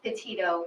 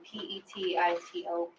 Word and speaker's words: Petito: Can you pronounce her last name for us? Sure, it's Petito, Petito.